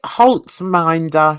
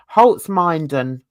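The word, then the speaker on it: Holzminden: Oh no, Holtzminder she was in. No, say it properly. Holtzminden.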